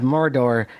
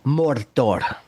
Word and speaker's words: Mordor: It is not Mordor. It is Mordor. And Mr. and Professor Tolken said it himself in audio.